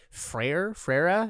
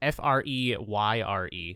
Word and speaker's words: Freire: bear with me here, Antonio Freire. It's Freyre.